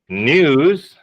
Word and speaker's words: news: the chat for you news is the singular so whenever you see you talk about news you should pronounce the S it never goes with